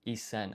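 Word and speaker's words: 一千: sen, which is 1,000, however, to simplify the pronunciation, this is actually isen.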